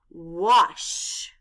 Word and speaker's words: wash: w a s h the letter A stands for the short o sound a the letters s